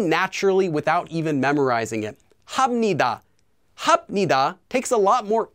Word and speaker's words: 합니다: If the second syllable then begins with the consonant, 니은 or 미음, the 비읍 will become pronounced as 미음. So here are a few examples. 합니다, 합니다, 합니다, 합니다, 합니다, 합니다, 합니다.